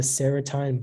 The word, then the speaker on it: serotine: Yeah, it can be serotine, serotin, or serotine. Okay.